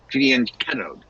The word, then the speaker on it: fianchettoed: Fianchettoed is the Italian way of pronouncing it.